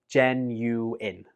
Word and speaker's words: genuine: I hear some students pronounce this like genuine, but the last syllable in this word is pronounced in, not ein. So it goes like this. Genuine.